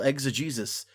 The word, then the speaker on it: exegesis: Well, that's the thing. It's like, it's not spelled like Jesus at all, but yeah.